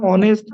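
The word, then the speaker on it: honest: গুণ অবস্থান বুঝিয়েছেন কিন্তু অনেস্ট এইচ টা এইচ এর মত উচ্চারণ না হয় ভাউ ভাউলের মত হওয়া তো ম্যাডাম এখানে এন বসেছে তাই না হ্যাঁ ঠিক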